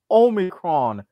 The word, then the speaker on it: Omicron: It's Omicron, as in Omicron per CI-8.